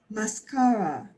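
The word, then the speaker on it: máscara: mascara, And now you want to punch the first mascara. mascara, It's got an accent mark because, yeah, if I had no written accent mark there, Cynthia, it would sound like mascara.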